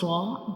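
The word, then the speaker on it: ر: When we pronounce ra, the sound fills into the mouth like ra. It's a heavy letters, and we read it with heavy sound like ra, ra.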